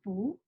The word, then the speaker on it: 不: the tone when we read this character book but before we get started i want to